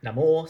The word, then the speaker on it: Namor: animal's pronunciation right because I've heard it being neymal for years and then this film seems to call it late now more so that's all fine